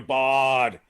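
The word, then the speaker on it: Bard: we didn't say daniel bart he's available he's under 60 percent daniel i'll say it right daniel bodd yes you know he's the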